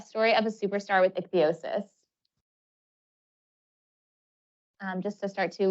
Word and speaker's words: ichthyosis: of my skin because I have ichthyosis it's pronounced ichthyosis it's not a sunburn or just dry skin